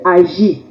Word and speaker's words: Aggée: c'est ma bible ne se prononce pas à G mais ce prononce agit le verset 16 là-bas